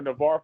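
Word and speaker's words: Navarre: He's from uh N is it Navar, Florida. Is that how you pronounce that? Yes, sir. Navar, Florida.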